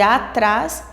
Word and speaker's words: atrás: Então, a sílaba forte, a sílaba tônica de atrás é o trás.